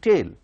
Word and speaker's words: tale: T-A-L-E, tail. That is T-A-I-L, tail, and this is T-A-L-E, tail. Both are pronounced in the same way, but the spellings are different and the meanings too are different.